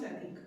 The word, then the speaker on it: Pratik: Toastmaster Sumit, and I want to clarify, is it pronounced Pertik or Pratik? Pratik. Pronounced Pratik.